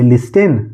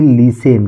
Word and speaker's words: listen: इसी तरह लिखा हुआ है LISTEN, क्या पढ़ेंगे, लिस्टेन नहीं, इसको पढ़ेंगे लीसेन। क्या पढ़ेंगे, लीसेन। यहाँ पे टी जो है वह साइलेंट है, तो क्या पढ़ेंगे, लीसेन।